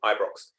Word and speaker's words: Ibrox: The Ibrox, how do I pronounce that, Roots, do you think? Ibrox.